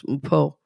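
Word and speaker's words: Mpho: Her name is spelled M-P-H-O, so it's kind of hard to pronounce, Mpo. But I wanted to try to pronounce it properly.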